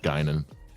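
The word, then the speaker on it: Guinan: generations and nemesis as guinon multiple choice all right is it a oprah winfrey b whoopi goldberg c whitney houston or d janet jackson it's a whoopi goldberg for one point it's pronounced gynon yeah all right guys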